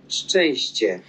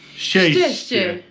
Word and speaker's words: Szczęście: No, the E with the little squiggle is like a nasal. Yeah. But I think the CZ is a H. So it's Szczęście. How is it actually pronounced? Szczęście. Szczęście.